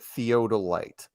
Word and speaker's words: theodolite: By the way, somebody said, make sure we pronounce it theodolite, not theodolite, not theodolite.